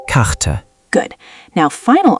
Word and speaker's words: Karte: Middle R. Karte. Map or card. Say Karte. Karte.